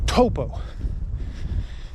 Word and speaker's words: Taupo: I forget that the AU sound here in New Zealand is an O, so Taupo.